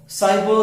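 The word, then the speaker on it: cyber: तो ये साइबर, साइबर centre, इसको काइबर नहीं बोलेंगे, इट्स प्रोनाउंस्ड साइबर।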